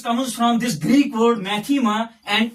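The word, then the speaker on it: μάθημα: as Mu Alpha Theta ITA Mu Alpha whose pronunciation is maema so this word mathematics comes from this Greek word maema and its meaning is knowledge what some say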